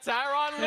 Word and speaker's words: Tyronn Lue: Yeah, Rhymes with blue. The blue. Okay, yeah, I know he's a basketball coach. Tyronn Lue right there.